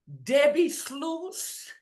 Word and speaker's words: Debbi Sluys: today with a beautiful guest her name is Debbie slurs right SL yeah you did great I'm sorry I got a pronunciation Debbie SLO that's right okay all right forgive me for